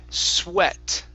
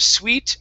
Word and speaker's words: sweat: word here is pronounced sweat okay um the ea can be confusing some sometimes and we just have to memorize the words all right so here instead of sweet it is sweet sweat